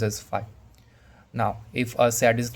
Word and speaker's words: phi: Phi, it is pronounced as phi.